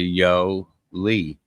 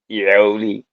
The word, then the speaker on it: Jolie: You kind of say it in the Anglo-Saxon way. I say no, it in the Spanish way. I say it like, if you say yo to somebody, yo, and just put the yo Lee, yo Lee, You go